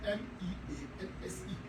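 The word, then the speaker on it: mesne: It is spelled MEANSE, and it is pronounced mean profit.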